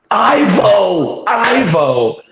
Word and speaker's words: Ivo: Ivo. Oh, Rhymes with you.